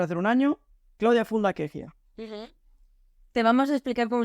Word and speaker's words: Kejia: año en breve hacer un año Claudia fulla queia te vamos a explicar cómo se pronuncia pron tú Qué significa qué significa es